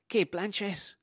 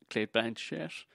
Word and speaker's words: Cate Blanchett: You know, it's all like Cate Blanchett. I'm saying it right, apparently. Cate Blanchett.